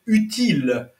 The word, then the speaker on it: utile: un outil le substantif on ne prononce pas le l et utile un U et un L qui est bien prononcé c'est l'adjectif donc pour